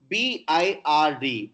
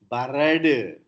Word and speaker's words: bird: For example, B-I-R-D. After R, there is no vowel sound. That's why we don't say barad. Teacher, barad. No. Bird.